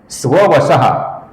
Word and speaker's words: स्ववशः: स्ववशः के अंत में ये श है दोस्तों, ये श नहीं है, इसका हमें श ऐसा ही उच्चारण करना है।